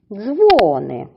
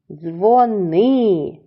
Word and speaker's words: дзвони: склад плакати дзвони дзвони ділимо слово на склади і визначаємо який склад наголошений дзвони слово з двох складів наголошуємо на первий склад хлопчик дівчинці каже дзвони мені дзвони ділимо слово на склади дзвони слово має два Склади